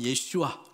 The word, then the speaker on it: 예슈아: 베세 사람이 여수예수사랑교회 구원 히브리 식으로 발 발음하면 예슈아 예수님이 구원이자아요 그러니까 그